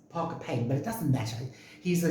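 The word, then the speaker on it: Parker Pyne: called parker payne investigates it's spelled p-y-n-e so some people say parker pine um i think the correct the correct way of saying is parker payne but it doesn't matter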